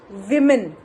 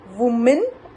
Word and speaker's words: women: The next word we have is हम बोलते हैं औरत, women. W-O-M-E-N. बहुत सारी महिलाएं, right? So we will pronounce that word women. Women. Women. Not woman.